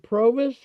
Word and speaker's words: Provis: So then you started uh how do you pronounce it? Provis.